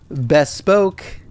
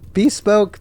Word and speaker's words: bespoke: Bestpoke. Bespoke. Bestpoke. Bespoke. See, I'm not an AI narrator, so I like pronouncing things wrong.